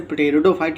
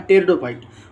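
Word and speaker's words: pteridophyte: जैसे पटेरिडोफाइट लिखते हैं वो पढ़ा क्या जाता है, टेरिडोफाइट, उसी तरह से टेरिस होता है, पटेरिस नहीं होता।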